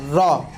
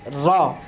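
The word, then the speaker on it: ر: তারপর উচ্চারণ হয়েছে র, উচ্চারণ র। আমাদের একটু রা লেখা আছে, আপনারা বলবেন র।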